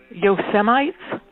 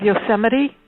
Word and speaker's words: Yosemite: the way biden speaks yo semis yo semi instead of yosemite that's your guy your brainless in the white house that's how he pronounces yosemite yosemite how come he